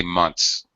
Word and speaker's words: months: For example, in a word like months, you have the N sound, then the TH, and then the S. All right, it's an acceptable pronunciation to reduce that TH, which is difficult in combination with the other sounds. Perfectly acceptable to say months. I've been here for 5 months. Reduce the TH.